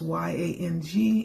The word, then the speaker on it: yang: The seed sound, again, is Y-A-N-G, and it's pronounced yang.